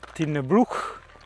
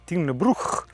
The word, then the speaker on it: Tighnabruaich: Ma prima di fare il nostalgico giro a Tin Brook, si pronuncia così, Tin Brook, come dicea Charles, no?